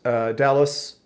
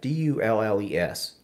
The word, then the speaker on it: Dulles: But Andy says at Dallas Airport in Virginia. Is it Dallas or Duluth? How do you say that? Dulles.